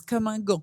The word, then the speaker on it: Comme Un Gant: Is that how you pronounce it or how to say it? Yes, Comme Un Gant.